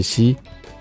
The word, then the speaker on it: し: 一个是用，一个是西。